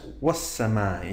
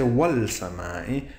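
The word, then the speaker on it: والسماء: And that's was samai. You can't say wal samai, you say was samai.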